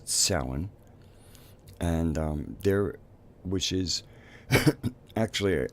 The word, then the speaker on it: Samhain: earth observances of the year it's also called salan even though it's spelled sa m h AI n looks like Samhain but if parallely it's pronounced salan and they're which is actually from what I